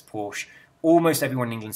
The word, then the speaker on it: Porsche: We're supposed to say Porsche, we're supposed to say Nike, but we don't. We say Porsche, we say Nike. It's almost everybody in England says Porsche.